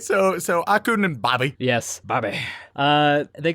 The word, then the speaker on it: Akkun: Akkun. Yes, like Aku, but with more of an n at the end.